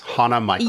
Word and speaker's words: Hana Michels: Hana Michaels. Yes. Exactly how it sounds.